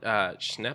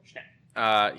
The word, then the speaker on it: Schnepp: It was John Schnepp, I think is how you say his name. Schnepp.